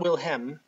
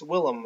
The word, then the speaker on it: Willem: Not Wilhelm, but it's Willem. It's not spelled like William, but Willem.